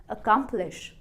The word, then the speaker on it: accomplish: पर अगर हमने स्ट्रेस किया बीच वाले पार्ट को, अकम्प्लिश, अकम्प्लिश, अब आपकी प्रोनाउंसिएशन लग रही